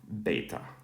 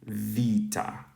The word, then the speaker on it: βήτα: what this sounds like so if we were to read this this beta right here in New Testament Greek it would be um beta right but if we read it in modern Greek it would be Vita notice that this character